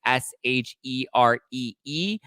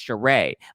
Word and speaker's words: Sheree: shrey sri sri ah same name different pronunciation um both housewives so